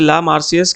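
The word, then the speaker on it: La Marseillaise: ठीक है, तो आपको इसकी थोड़ा प्रोनाउंसिएशन मुश्किल है, इसे ला मार्सियस कहते हैं, इसे रूजे डिलाइल कहते हैं।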